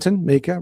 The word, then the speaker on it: Mika: Mika Boon, Mika rhymes with sneaker uh explained this beautifully